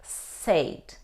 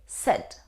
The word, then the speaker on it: said: and do you pronounce this word said no it's not correct though we see the combination a and I we don't say said we say set is the past form